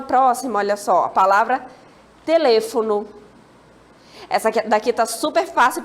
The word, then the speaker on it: teléfono: Temos uma próxima, olha só, a palavra teléfono.